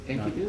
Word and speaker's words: Enkidu: Enkidu is good, not, yes.